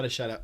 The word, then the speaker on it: Badiashile: Badiashile, I was getting his name wrong.